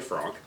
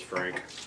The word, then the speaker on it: Franc: Last we're going to do is Cabernet Franc. Horribly mispronounced as Frank, oftentimes, like Merlot.